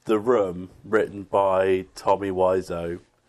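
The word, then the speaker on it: Wiseau: room written by Tommy wise Oh which we've finally discovered is the actual pronunciation definitely and basically were on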